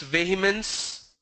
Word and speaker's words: vehemence: ASN, it's vehemence. For example, I can say I vehemently deny. Vehemence is the correct pronunciation.